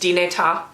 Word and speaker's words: Dinétah: a new nation called, I think it's pronounced Dinétah. I don't speak Navajo, so I might be wrong about that.